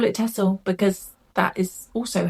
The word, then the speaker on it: Texel: spinning for Tour de Fleece, I bought 2 Texel fleeces. Now, you will probably find that during this video, I sometimes pronounce it Texel, I sometimes pronounce it Texel.